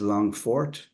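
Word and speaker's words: Longphort: Longford uh the spelling in Irish uh and pronunciation for it is longfort we see where that name came from and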